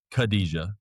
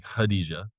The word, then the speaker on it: Khadijah: And everybody was saying like Kadija, right? And she's like, "It's technically Khadijah."